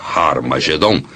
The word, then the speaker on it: Har Magedon: E realmente em algumas das antigas versões do Novo Testamento, escritas em grego, Armagedon tem o som aspirado no início, que significa que era pronunciada com H. Originalmente era Har Magedon, e é muito fácil passar de Har Megido para Har Magedon.